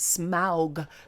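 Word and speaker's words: Smaug: it's easier for people no it's smog because this is the correct way to say it you know when like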